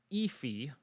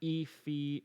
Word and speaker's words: EAFE: it's based on this right here the msci efi that's how we pronounce eafe msi e fee index now this is a what we call